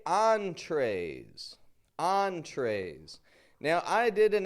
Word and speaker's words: entree: Entree. We give it that French on and then tray, the kind of American sound.